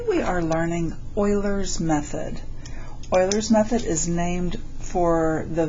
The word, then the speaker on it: Euler: Oilers's method is named for the very famous mathematician Leonard Oiler. He was a Swiss German mathematician. Um, Swiss German. So, it's pronounced Oiler, not Uler.